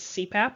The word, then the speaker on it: CPAP: so this is your abbreviation of initials that can be pronounced as a word this is very common